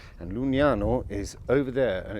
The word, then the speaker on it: Lucignano: Now, you're in the comune of Lucignano. I pronounced that right. And Lucignano is over there, and it's about 15 minutes away, and it's a really beautiful town.